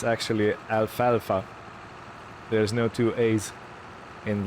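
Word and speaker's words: alfalfa: because you know uh I pronounced it like the Greek letter Alpha like Alpha and Omega um but yeah it's it's not alpha alpha so I wanted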